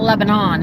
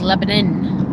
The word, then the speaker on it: Lebanon: It's not Lebanon, it's Lebanon. I know it's spelled Lebanon, but it's Lebanon.